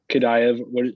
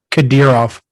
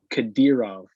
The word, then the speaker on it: Kadyrov: I don't know how to pronounce Kadyrov. Kadayev. How is it? Kadyrov. Kadyrov. Ramzan or whatever his name is, Kadyrov.